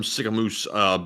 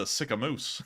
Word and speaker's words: Sicamous: work, guys, and a big shout out from Sycamoose, British Columbia. Sycamoose? How do you spell that?